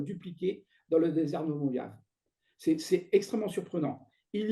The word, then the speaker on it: Mojave: Alors, Mojave, je prononce à la française, Moavi en américain, hein, ou en navarro, c'est pareil. C'est le désert de Mojave.